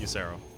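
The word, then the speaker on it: Ysera: kill by the way I know it's pronounced yero just in case this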